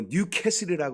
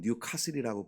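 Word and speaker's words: Newcastle: 그리고 뉴캐슬이라고 그러는데 영국에서는 뉴카슬이라고 부릅니다.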